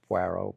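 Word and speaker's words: Poirot: And then we we love what's pronounced. She calls Pero. It's Puero.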